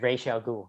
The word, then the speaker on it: Ra's al Ghul: braz and it is the pronunciation of ra's al ghul it's racial ghoul yeah it's racist racism